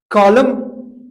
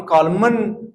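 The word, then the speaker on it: column: तो एम एन जब ये दोनों एक साथ आते हैं, एन साइलेंट होता है, एम साउंड देता है। जैसे हम ऑटम कहते हैं, कॉलम कहते हैं, हम कॉलमन या ऑटमन नहीं बोलते हैं।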